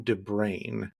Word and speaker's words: de Bruin: And this is why I asked the guests before we start the interview how to pronounce their name. So it is Tom Derain in spite of how it might look to American English speakers.